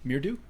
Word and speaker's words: Mridu: So Mirdu? Yeah, essentially think of redo, but with an M in front. Mridu.